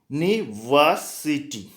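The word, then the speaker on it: university: Next यूनिवर्सिटी, इसका pronunciation कैसे होता है? वाइस होता है, ए यूनिवर्सिटी, यूनिवर्सिटी।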